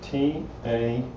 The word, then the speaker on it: taqiyya: It's T-A-Q-I-Y-Y-A. And I think it's pronounced taqiyya.